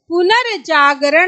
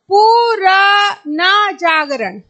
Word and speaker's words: पुनर्जागरण: पुनर्जागरण ये सही होगा। क्यों सही होगा? क्योंकि हम बोल रहे हैं पुनर जागरण यानी शब्द से पहले इसका उच्चारण स्थान आना चाहिए। अगर इसको हम देखेंगे तो हम कैसे पढ़ेंगे? पुर न जागरण। तो यह आपका वैसे भी गलत होने वाला है।